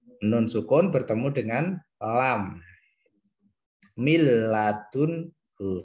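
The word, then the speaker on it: مِن لَّدُنْهُ: Cara bacanya tidak dengung, tidak ditahan, tidak boleh gini. Mil ladunhu tidak boleh, tapi langsung mil ladunhu. Atau min ladunhu tidak boleh, harus masuk ke lam karena idgham bila gunnah.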